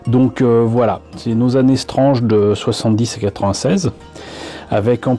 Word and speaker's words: Strange: est nos années strange je prononce strange est une impasse prime puisque je sais pas pour vous mais en france je doute que quiconque ait prononcé le titre de ce recueil de comics qui était mensuel si je me rappelle bien qu'il aura jamais prononcé springs je pense que tout le monde l'a prononcée strange comme je disais speed